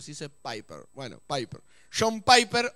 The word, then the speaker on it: Piper: Dice un autor, John Piper, o Piper, como decimos Una vez yo dije Piper y alguien me corrigió y me dijo, no se dice Piper, se dice Piper.